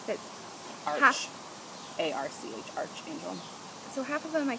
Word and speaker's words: Archangel: Is it arch or arc? I never know. They have some funky names that Arch. A-R-C-H, Archangel.